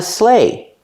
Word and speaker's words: sleigh: It's Santa Claus, and he's riding on a sleigh. This thing is called a sleigh. Pronunciation, sleigh. Use the sound A like pay and day.